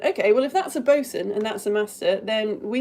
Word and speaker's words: boatswain: And they say, their first line is, Bosun! It looks like boatswain. Now we pronounce it bosun.